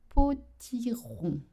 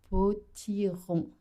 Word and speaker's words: potiron: use the word un potiron. Un potiron. Un potiron. Alors, let's talk about that rond sound. So, of course, you have to do the R.